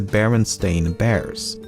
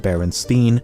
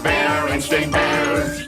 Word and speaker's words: Berenstain: Thirdly, the son of the creators has said that barely anyone pronounced it correctly when he was growing up, and he was most frequently called Berenstein or Bernstein.